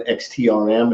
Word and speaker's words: XTRM: is up and on xt RM it's not pronounced extreme it's icy xtr m